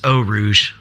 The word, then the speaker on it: Eau Rouge: Looks good, and it's Eau Rouge since we're getting all pronunciation perfect now.